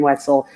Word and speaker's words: Wetzel: Wait, well, look, I'm chocolate covered, and Wetzel rhymes with pretzel, so chocolate covered. I like it. That was Thank you for that. Clever. I like it. And I'm also on Facebook, Wetzel.